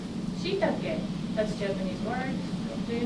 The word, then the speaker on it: shiitake: How many syllables are there in beautiful? 3. 3. Beautiful, right? Shiitake, that's Japanese word.